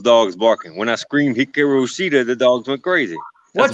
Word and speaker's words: Hikaru Shida: I can't imagine Penelope Ford taking it from Kira Shida. Shida is just the bomb right now. So what's your take on that one? I think the correct way to say it is Hikaru Shida.